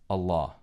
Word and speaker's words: Allah: And when you put el ilah together in the Arabic language, it combines to be pronounced as Allah.